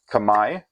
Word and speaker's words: Khmer: saying in English but the pronunciation in Cambodian is closer to kamay spelled out K apostrophe M AI there's no standardization of